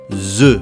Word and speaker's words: œufs: Mais s'il est au pluriel, eh bien là on ne prononce ni le S du pluriel, ni le F. On le prononce comme un E. 2 œufs.